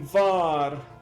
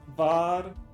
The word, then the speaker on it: war: Most of in German the W is more like a V pronounced, not W war, but bar.